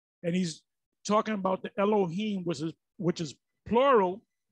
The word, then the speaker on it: Elohim: listen to a little bit more and it's pronounced al-ahyam and he's talking about the elohim which is which is plural allah young the